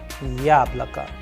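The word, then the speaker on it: яблоко: And in this example again you can also see the role of udarini or stress is coming. For example, the first vowel yah is having the stress or the udarin and the rest of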